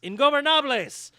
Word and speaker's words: Ingobernables: God damn it, I worked on that pronunciation. Ingobernables.